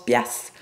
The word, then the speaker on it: piastre: » Premier mot, particulièrement québécois, donc hein, les piastres, qui est une ancienne unité monétaire, au Québec, on prononce piastres, ça veut dire des dollars.